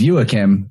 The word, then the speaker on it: Joakim: friend named jack hagstrom actually his name is pronounced yuakim but for us english speakers he just lets